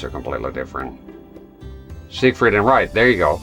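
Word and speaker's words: Siegfried: For reference, in German, this is normally pronounced as Zik Zik. That sounds like an S to me. Zikrit. However, in English, this is usually said as Zik. Ah, so in English. So gotcha. Zig freed.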